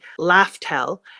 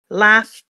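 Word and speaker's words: Laugh Tale: Then I was like, is this supposed to be Laughtale? But I think it's supposed to be Laughtale. I don't know how to pronounce the last part. The first part definitely has to be laugh.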